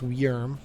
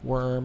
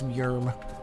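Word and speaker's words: Wjürm: and that's how you that's how you say his name is yerm not worm or wood germ or anything like that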